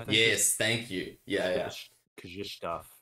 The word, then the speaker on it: Krzysztof: Krzysztof, I think is how you pronounce it.